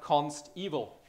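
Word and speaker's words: consteval: 20 we will have Const evil and I hope I pronounced this right because it's not evil it's evaluated at compile time little bit different than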